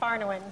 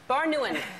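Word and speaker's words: Barnouin: so Rory and Kim how do you say your last name baruan baruan sorry about that French names all right so skinny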